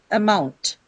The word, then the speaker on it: amount: What's the first sound here? It's a schwa sound, right? It's an unstressed sound. So it cannot take stress on it obviously. So you'll there's no other way but then you to move the stress or to take the stress on the second syllable.